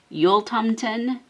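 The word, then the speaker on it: Jultomten: say his name as opposed to last time yul tomten was part of christmas for swedish children just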